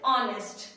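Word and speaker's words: honest: ऑनेस्ट क्या होगा dish ऑनेस्ट नेस्ट नहीं है गाइस ये ऑनेस्ट है क्या है ऑनेस्ट ओ ऑनेस्ट ओके नेस्ट नहीं है ध्यान रखिएगा क्योंकि एच यहां पे क्या है साइलेंट है क्या है साट ठीक है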